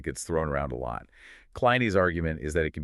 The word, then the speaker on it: Christoph Kleine: We're looking at a fantastic article by Christoph Kleine, that's pronounced Kleine, called Religiöser Nonconformismus als religiös-wissenschaftliche Kategorie.